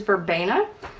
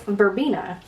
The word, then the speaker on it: verbena: pronounce that word because I always thought it is verbena but apparently it's verbena it's a very tropical